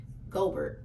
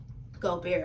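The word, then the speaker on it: Gobert: so his rebounds and I feel like I've been saying his name wrong this whole time goldbert goldbert Gober I heard the commentator say Gober so I'm not sure if it's goldbert or Gober y'all let me know which one is it but anyways he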